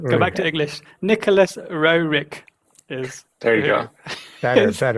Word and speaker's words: Roerich: Nicholas Roerich is. There you go. Better. as it's written.